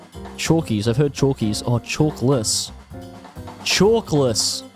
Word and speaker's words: Chalkles: It's pronounced Chalkles. Chalkles.